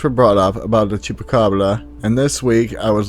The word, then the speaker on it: chupacabra: as a note i know it should be pronounced chupacabra and i will try to keep this in